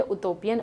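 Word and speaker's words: utopian: इसका प्रोनाउंसिएशन सुन लीजिए, उटोपियन और डाइटोपियन।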